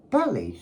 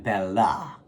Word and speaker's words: Belly: And you pronounce that Belly, Sharina Belly, not Sharina Bella.